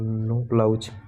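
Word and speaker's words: Knoblauch: ईस्वी में बोवरे एंड नोब्लाउज, जिसमें के साइलेंट है, नोब्लाउज नामक साइंटिस्ट ने किया था।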